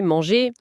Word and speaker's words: manger: Les verbes en ER à l'infinitif, comme parler, manger, ils se prononcent et, e, comme le participe passé parler, manger. Pas parlèrent ou mangèrent. C'est une convention super importante. Le ER final des infinitifs du premier groupe et aussi de certains noms de métiers comme boulanger, pâtissier, ça se prononce E.